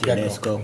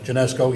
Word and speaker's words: Genesco: Also down there on Warman in Pennsylvania, you got, I don't know how you pronounce that, not Gecko. Genesco, yes. They have the card reader, and the semis are literally out on the road.